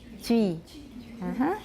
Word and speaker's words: Twi: All right, Twi we've been saying, but actually it looks like it should be Twi. Twi.